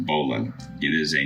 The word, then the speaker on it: bowline: though it is written beau line it is pronounced bolan it is a not used tala in the